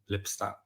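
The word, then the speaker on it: Lipstadt: Uh Miss Lipstat, is that surname or how do you pronounce it? Lipstat.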